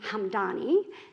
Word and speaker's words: Hamdani: My first horse was named Hamdani. It was given to my father by the Hamdani tribe. It conveniently rhymes with Mum Donnie, in case that's useful to you.